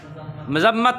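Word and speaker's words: مذمت: Meme के ऊपर ज़बर है, मज़म्मत है ये।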